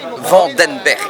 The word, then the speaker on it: Vandenberg: Je m'appelle Vandenberg, prononcé à la française.